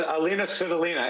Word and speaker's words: Alina Svitolina: It's Alina Svitolina, and she's married to Gael Monfils.